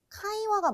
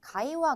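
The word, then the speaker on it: 会話: 하셔야 된다는 거예요 자 왜냐면 우리나라에서는이 자가 가장 머리 가장 맨 처음에 단어가 단어 머리 맨 처음에 등장을 한다면 카가 아니라 라 가라고 읽는 경향이 있어요 그래서 카이와 맞는데 가이와 가이와 이렇게 약간 한 보어가 들어가는 경향이 있거든요 그러다 보니까 단어를 잘못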